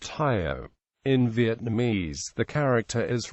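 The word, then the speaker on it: 효: In Korean Confucianism, the character is pronounced Hyo.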